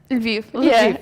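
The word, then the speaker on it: Lviv: Ukraine, you live in Leiv. Yes. Yes. Did I pronounce it correct? Viv.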